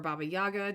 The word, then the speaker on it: Baba Yaga: most famous of all the Slavic myths is Baba Yaga as you guys or Baba Yaga depending on pronunciation um and in the majority of her